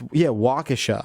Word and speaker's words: Waukesha: No, it's Waukesha. Okay, well, there's a gentleman in Waukesha.